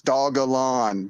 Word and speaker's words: Dogelon: their dm and uh tell them it's dog alone dog dash dogalon mars